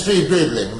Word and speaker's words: Streeb-Greebling: I'm so sorry yes my name is stre gribling the tea is silent as in forx I'm so sorry um